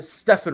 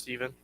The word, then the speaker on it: Stephen: f it i'm sorry stefan ross i'm sorry why i say stephen i think it is pronounced steven i think it just spelled weird yeah okay do you